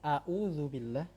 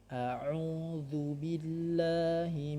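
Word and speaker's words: أعوذ بالله: Baik, a'udzubillah, sering sekali orang membacanya a'udzubillah atau jadi dua-duanya ain. Harusnya dia hamzah dulu, a, kemudian a'u. Baik, a'udzubillahi minasyaitonir rajim.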